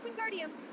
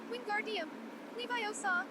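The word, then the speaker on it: Wingardium Leviosa: wasn't having much warlock queen guardium he shouted waving his long arms like a windmill you're saying it wrong very hard hermione snap it's queen guardium leviosa make the guard nice and long you do it then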